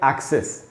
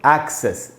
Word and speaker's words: access: तो इसको पढ़ेंगे दोस्तों एक्सेस। इसमें ए का जो साउंड है उसी पर स्ट्रेस है, उसी पर ज़्यादा जोर